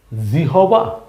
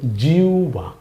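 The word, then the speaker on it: জিহ্বা: এমন হয়ে যাবে জিউবা লেখা আছে জি হবা নাকি কিন্তু উচ্চারণ জিহবা না কিন্তু উচ্চারণ হবে জিউবা ভালো করে মনে রাখেন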